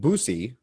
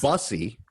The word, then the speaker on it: bussy: I apparently was saying boosy, it's bussy, and I was saying thussy, but it's thrussy.